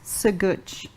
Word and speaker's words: Sagutch: and my amazing guest for today is Luke so good did I pronounce it right yeah yes I got it